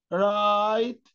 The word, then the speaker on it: write: كمان الدبليو لما تلزق في الار، الدبليو ما بننطقهاش، بنقول كلمة ايه؟ رايت رايت رايت رايت، يكتب ريست ريست، معصم.